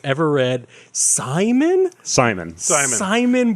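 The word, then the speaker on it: Psimon: Simon, but with a silent Pis that he likes to do drawings and they come to life.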